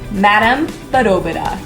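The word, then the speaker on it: Madame Badobedah: stay she names her madam but oh Buddha which kind of rhymes with Lala because this is a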